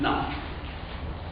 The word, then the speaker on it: naught: Or you can also say as P naught. Not my fault, sorry, English is like this. Naught is spelled N-A-U-G-H-T.